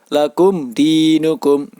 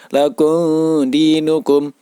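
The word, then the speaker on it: لَكُمْ دِينُكُمْ: robbihim lakum di cukup lakum dinukum mim mati bertemu Del dinamakan bacaan izhar syafawi cara membacanya yaitu wajib dibaca secara jelas lakum dinukum tidak boleh dibaca Lagoon dinukum lakum dinukum tidak boleh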